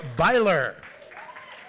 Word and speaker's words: Byler: klein writers emily altman jeremy byler rhymes with tyler it says here neil